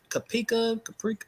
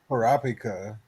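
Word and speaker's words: Kurapika: Uh, Caprica, how you say it? Parapika.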